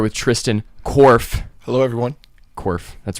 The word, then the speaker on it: Korff: can't how are you I'm good cuz I pronounced your name okay okay good and I'm here with Tristan Worf hello everyone Worf that's right yes okay all right we got